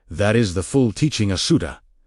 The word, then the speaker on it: Asuta: That is the full teaching Asuta, pronounced A-su-tah, -TAH carries within its ancient Aramaic structure.